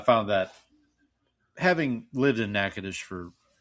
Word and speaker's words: Natchitoches: And apparently the hardest word for them to pronounce was Natchitoches.